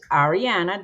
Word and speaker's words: Arianna: the time and uh our guest today is ariana did i pronounce that correctly yes ariana yep ariana and arianna as i